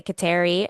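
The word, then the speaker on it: Kateri: There are several ways to pronounce her name. Um, but I'm just going to use what generally in the US people say. Um, so, um, generally in the US they say Katari and then I believe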